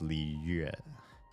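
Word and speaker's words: Liyue: But in certain letter clusters like Y-U-E, they drop the diacritical because you never pronounce the U sound the normal way. In that, you always pronounce it U. So it's Li Yue.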